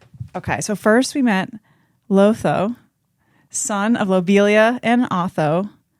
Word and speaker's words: Lotho: Lotho. But it rhymes with Otho.